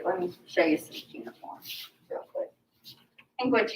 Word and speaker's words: cuneiform: Well, the term here is they do what's called cuneiform.